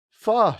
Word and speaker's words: pho: See, this implies it's pronounced foe to go, but it's pho to go.